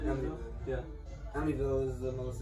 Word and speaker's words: Amityville: Amityville? Amityville.